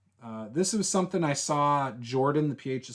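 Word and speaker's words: Jorphdan: Jordan, the PH is silent. The PH is between the R and the D in case you're curious.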